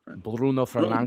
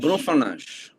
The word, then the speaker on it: Bruno Fernandes: I always think of the Portuguese, the like full correct Portuguese. Bruno Fernandes. Bruno Fernandes.